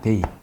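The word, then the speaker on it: δεῖ: 데이. 썬데이, 뭔데 할 때 그 데이하고 발음이 똑같아요.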